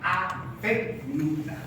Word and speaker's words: avénula: Una que se llama glándula pineal y otra que se llama los núcleos de la avénula. Avena. N-U-L-A. Acento en la E. Avénula.